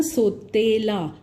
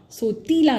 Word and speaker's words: سوتیلا: اور اسی طرح سوتیلا, سوتیلا نہیں ہے یہ سوتیلا ہے. تو اس لیے یہ وائے مجہول ہے, اس کی بہت واضح آواز نہیں ہے.